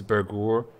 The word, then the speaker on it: Bergur: It's not our, it's Ur. Like poor. So it's Mr. Bergur and...